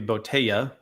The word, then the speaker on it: botella: language for bottle and Botella is that bottle in Spanish it's got two L's so it would be botaya okay I didn't remember